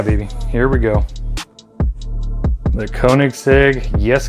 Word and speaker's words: Koenigsegg: here we go the koenigsegg yes co jessico however you prefer to say it i usually say jessico because i'm american and we mispronounce everything so that in a